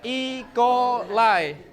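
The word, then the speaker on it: E. coli: ikolai apa Ik ikolai ingat bacanya ikolai eh nak boleh gitu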